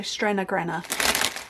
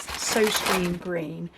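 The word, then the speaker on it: Søstrene Grene: wonderful Danish company called, it's pronounced so Strenna Grenna, but I think if you are local or British, you may recognise it as So Stream Green.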